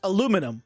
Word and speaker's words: aluminum: We don't spell it aluminium. We don't have an I then. It's just aluminum because we don't have an I, so it's aluminum. It's spelled, it's a different thing. It's spelled differently, so it's pronounced differently.